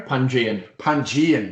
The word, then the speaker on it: Pangaean: Pangaean, would you say, Gary? Pangean. There we go. That's me corrected.